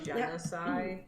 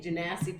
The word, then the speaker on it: genasi: You know they put out an official pronunciation. You're supposed to say genocide. Oh, it's genocide? That's what they like literally like a month ago were like, it's genocide. And I'm like, everyone's been saying Genasi forever.